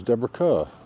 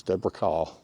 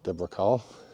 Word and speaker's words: Deborah Kerr: I found out that she herself pronounced it as Deborah car so that's how we're going to call her Deborah car uh she was as